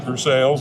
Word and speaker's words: Versailles: And we said we pronounced it for sales like you're supposed to. And for sales, not not the funny Frenchy way that they that they they're different places.